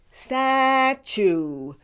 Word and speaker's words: statue: it status now let's do the other word Statue you do it statue for this word pronounce the second syllable - like - with